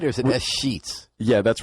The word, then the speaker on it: escheats: Do I say it right, or is it S-Sheets?